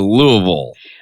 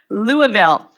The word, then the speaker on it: Louisville: So we're gonna start out though, since you said the National Farm Machinery Show, "Louie-ville" or Louisville. - "Lou-a-ville". - You didn't do it right. That's not right.